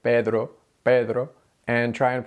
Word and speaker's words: Pedro: and pronounce it with the English D Pedro Pedro and then roll your R Pedro Pedro it's really really hard if instead you use the Spanish D Pedro Pedro Pedro that's very soft rolling